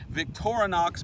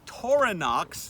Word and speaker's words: Victorinox: we used a Victorinox let me say it right Victorinox blade and I started to look into Victorinox because you know I'd seen them before I always thought they were just the tiny little Swiss army knife but we used coronox now I said it wrong in that video uh